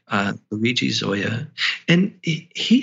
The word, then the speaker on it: Zoja: He's an Italian psychologist, and his name is spelled in a very strange way if your listeners are trying to find it. His last name is Zoja. Okay. Luigi Zoia.